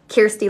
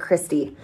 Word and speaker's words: Kirsty: Kirsty like an ear sound, not Christy.